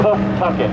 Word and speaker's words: Pawtucket: That's how you pronounce that. Pawtucket.